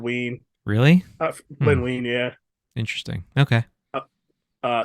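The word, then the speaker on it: Wein: movies those characters so his name Len wine isn't pronounced wine I've heard ween really yeah interesting okay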